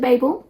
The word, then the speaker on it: Babel: They pronounced it Babel in the audiobook, so I'm going with that.